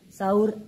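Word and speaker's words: سَحور: Ada juga yang membacanya sahur dan ada juga yang membacanya suhur. Ini dimaknanya berbeda. Kalau sahur itu makanan yang digunakan untuk sahur, tapi kalau suhur maka adalah pekerjaan dia.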